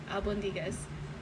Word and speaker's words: albóndigas: So over 100,000 of you have seen me mispronounce Albondigas. I know how to say it now. Might not be perfect, but Albondigas.